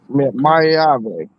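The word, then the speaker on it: Maiava: Oh, Mayave.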